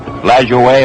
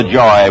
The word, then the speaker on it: Lajoie: Pronounce it LaJoie or LaJoy, whichever you like, still alive.